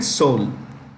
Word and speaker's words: Seoul: Okay, it's pronounced with an E that is silent. Okay, Seoul.